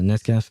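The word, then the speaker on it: Nescafé: Uh Nescafe coffee. How do you pronounce that in English? Uh in French, we just say Nes Cafe.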